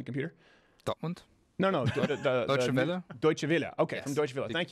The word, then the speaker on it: Deutsche Welle: How do you pronounce this, Sven Computer? Dortmund? No. Deutsche Welle? Deutsche Welle.